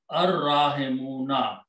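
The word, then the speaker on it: الراحمون: And, okay, first of all, al and ra will be pronounced as ar. Ar-rahimuna.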